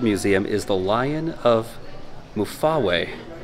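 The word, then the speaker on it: Mfuwe: is the lion of mufawei mafuwe the lion of mufuwe that's how you pronounce it but this is another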